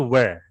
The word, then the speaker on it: were: Bukan where tapi were. Ya, karena kalau where itu yang pakai H ya. Where itu yang seperti ini. Nah, ini where ini. Ini dibaca where. Kalau ini dibaca were ya, dibaca were.